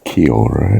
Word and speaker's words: kia ora: It's not kia ora, it's kia ora.